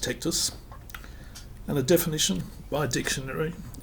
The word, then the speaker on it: Tectvs: it comes from Latin that's pronounced tactus and a definition by